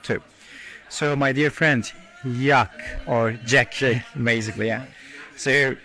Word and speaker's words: Jacques: Jacques with the French pronunciation.